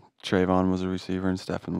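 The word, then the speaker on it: Trevon: to watch was uh stefan diggs and uh trayvon or am i am i saying it right yes that's stefan trayvon diggs yeah there's brothers yeah stefan and trayvon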